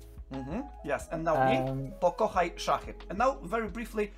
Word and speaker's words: Pokochajszachy: Okay, let's teach our audience to, let's say, pronounce this in Polish. Can you do it, Patryk? Pokochajszachy. Mm-hmm. Yes, and now me. Pokochajszachy.